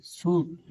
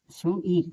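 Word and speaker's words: suit: जैसे देखिए यानी एस यू आई टी शूट इसे यानी इसे छूट पढ़ेंगे नहीं कि सु ईट यानी इसे छूट पढ़ेंगे।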